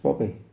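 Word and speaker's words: Bube: B U B E and pronounced Bobby.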